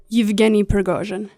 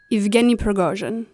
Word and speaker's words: Yevgeny Prigozhin: The other individual defendant, Yevgeny Viktorovich Prigozhin, It's pronounced Yevgeny Prigozhin. Yevgeny Prigozhin. Yeah, that's right. Yevgeny Prigozhin.